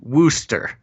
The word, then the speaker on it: Worcester: I do have to say, Gons, the overwhelming message I'm getting from the chat is that it's pronounced Wooster.